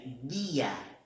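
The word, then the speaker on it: día: Então, a gente vai fazer o som de D mesmo e não esse som de J que a gente tem no português.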